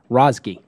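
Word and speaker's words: Razeghi: You're going to have to pronounce it. Rozgi. Okay. Well, I appreciate you pronouncing it for me. I'm terrible with names. Rozgi, he's an adjunct professor at the Kellogg School of Management at Northwestern University.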